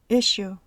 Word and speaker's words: issue: regla son las palabras Sugar sure que se pronuncian con el sonido sh se encuentra esta pronunciación también en las palabras usual Insurance issue palabras que empiezan con el